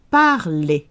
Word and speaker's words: parler: Parler, parler. It's an ER verb meaning it ends in ER, pronounced E.